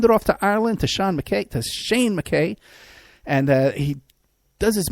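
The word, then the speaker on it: Sein: Want to give a shout out to Shane, not Sean. Shane.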